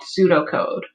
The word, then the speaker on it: pseudocode: keep in mind though that p at the beginning of the word is silent so we're not going to pronounce the p it's just pronounced pseudo